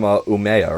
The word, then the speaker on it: Umeå: But for your area of Sweden, you guys are from Umeå, right? If I pronounce that right.